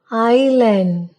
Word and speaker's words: island: The letter S is silent before L in the following words: Isle, island, islet, isle.